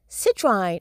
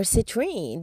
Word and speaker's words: citrine: Citrine or citrine, depending on which part of the world you are, you know, you pronounce it differently.